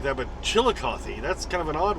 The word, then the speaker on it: Chillicothe: then there's a chillicoth where you don't say the e as far as i